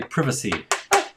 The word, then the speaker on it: privacy: to do stuff right privacy we had to figure it out or as the Brits say privacy which is better I like that better privacy uh okay well